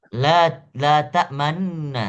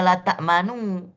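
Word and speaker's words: لا تأمنا: Tapi dibacanya secara ismam. Bagaimana? Ismam itu memonyongkan bibir tapi tidak bersuara. La ta'manna, Hmm. la ta'manna. Tapi jangan dibaca la ta'manu. Nggak ada manu, bukan. La ta'man cukup ditahan saja tapi memonyongkan bibir.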